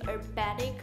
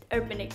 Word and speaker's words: Urbanic: filming for urbanic urbanic how do you pronounce it urbanic i have heard people saying herbatic but i initially started saying it urbanic what the [ __